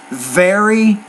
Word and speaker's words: very: beginning of the word you're pronouncing it like a B consonant sound but don't do that so if I said this very very I'm not saying berry berry I'm saying very very improving and pronunciation at